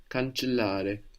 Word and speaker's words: cancellare: And also there's two L's in this verb. Cancellare. Cancellare. Good, and we want to pronounce both.